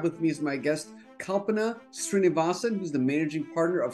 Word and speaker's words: Kalpana Srinivasan: Today, I'm really thrilled to have with me as my guest, Kalpana Srinivasan, who's the managing partner of Susman Godfrey.